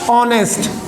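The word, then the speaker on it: honest: ये एस से शुरू हो रहा है, एच कॉन्सोनेंट्स है, देखकर तो आप यहाँ पे ए लगाओगे, लेकिन नहीं, हमने इसका प्रोनाउंसिएशन करके देखा तो पता लगा ऑनेस्ट। क्या है? ऑनेस्ट, क्योंकि एच इसमें क्या है? साइलेंट है।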